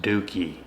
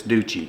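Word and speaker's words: Duchi: ducci de aquaviva and I believe that's actually pronounced as dookie de it can't be y'all it just can't be d u c h i dookie that's unfortunate in the Italian language in the American language it's duci if y'all know what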